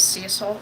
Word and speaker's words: Cecil: The correct way to say his name is Cecil. I don't like Cecil, so I say Cecil.